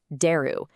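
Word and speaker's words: 出る: First up, exit or leave, pronounced deru.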